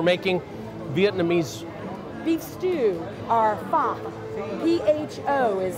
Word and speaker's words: pho: Michelle, we're making Vietnamese beef stew, or pho. P-H-O is how it's spelled.